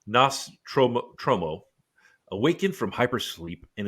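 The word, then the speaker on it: Nostromo: so the crew of the nostramo I can't pronounce the name it's NOS tromo tromo awakened from hypersleep and is informed by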